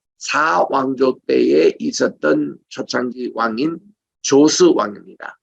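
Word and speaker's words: Djoser: 그런데 최초 피라미드가 어디냐면은 사왕조 때에 있었던 초창기 왕인 조스 왕입니다. 여기에 DJOCE라고 적은데 읽을 때는 D가 묵음이에요. 그냥 조스라고 그럽니다.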